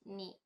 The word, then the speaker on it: へ: a gente não vai ler ele mais como r e sim como e e é como se tivesse ap apaga o h ali e fica só e mas a gente só